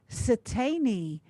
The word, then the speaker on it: Satani: going to have velma satani i'll spell that for you s for sam i t for tom e i and for nancy e so satani she is a samoan